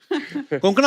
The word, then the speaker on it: कोंकणा: हमारे पर मुझे लगता है कोंकणा, आपको जब अलग अलग स्टेट के लोग मिलते हैं तो वो आपका नाम सही से प्रोनाउंस करते हैं. और आई एम श्योर अगर आपको कोई पंजाबी मिले वो हमेशा कंकना बोलेगा.